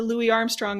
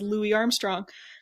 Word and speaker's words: Louis Armstrong: me was they kept they referred to to louis armstrong as louis armstrong um which i don't think is the preferred pronunciation so it's it's interesting